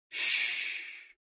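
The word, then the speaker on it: 嘘: The 6 sounds are XU, pronounced like shh, with a deep sigh, which is associated with the liver.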